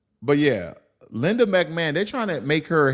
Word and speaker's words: McMahon: McMahon I I guess when you say McMahon I the ho um is silent but yeah Linda McMahon they trying to make